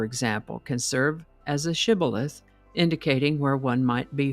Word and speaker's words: shibboleth: The Gileadites pronounced the word with the SH sound, shibboleth, but the Ephraimites pronounced it sibboleth without the SH sound.